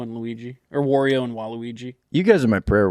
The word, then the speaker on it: Waluigi: and Waluigi Waluigi Waluigi I can tell you're unfamiliar Wario and Waluigi Waluigi you're fine it's like Laona um Wario and laigi I just need to hear you say it right just for me because it'll piss me off if if you don't Wario and laigi what a concept just get it right we can cut around